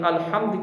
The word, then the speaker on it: الحمد: پڑھے جاتے ہیں، یعنی الحمد کے اندر ہا جو ہے یہ باریک ہے، اس کو الحمد ہا باریک کر کے پڑھیں گے تو اس کا معنی ہوگا تمام تعریفیں اللہ کے لیے ہیں۔ اگر یہاں پر تلفظ ہا کا ٹھیک نہ ہوا، ہا باریک کی جگہ موٹی ہا پڑی، الحمد، اس کا معنی تبدیل ہوتا ہے، اس کا معنی